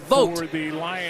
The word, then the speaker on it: Vaught: Really the one Hanover, Michigan, it's pronounced Vote.